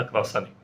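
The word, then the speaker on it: croissant: मुद्दामहूनच English मध्ये लिहिलय spelling जरी टी ने संपत असलं तरी त्याचा फ्रेंच उच्चार क्रॉस असाच अनुनासिकतेने संपणार फ्रेंच आणि मराठी या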